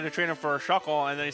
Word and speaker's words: Shuckle: Poor Shuckle. It rhymes with fuckle.